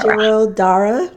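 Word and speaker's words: Shirodhara: can do that there's another therapy called shidara see I've heard both of them and I can never pronounce neither of them okay well we'll do it together right here shirro Dar Shiro Dar yes stream of oil on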